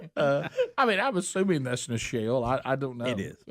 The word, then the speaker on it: Nichelle: Nicolette Nichols, who was better known as Lieutenant Uhura on Star Trek, the original series.